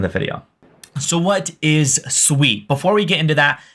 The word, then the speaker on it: Sui: Sweet It Is Not sui I've been corrected multiple times so if you want to be on the better half of the sweet Community just pronounce it sweet now the project itself